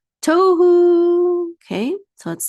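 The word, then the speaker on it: תֹהוּ: But because the accent mark is supposed to be on the first syllable, not the last syllable, we actually have two pashtas.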